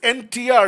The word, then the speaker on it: NTR: It's NTR, not enter, like NTR, separate pronounce.